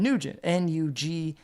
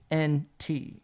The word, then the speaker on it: Nugent: That's, like just like it's spelled, and Nugent, Nugent, like Cat, Ted Nugent.